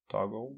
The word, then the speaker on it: Toggl: I think that's how you pronounce it. Toggle.